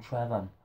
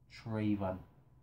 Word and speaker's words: Traven: I called him Trevon. And, you know, he corrected me and I. He said, it's, you know, pronounced Traven.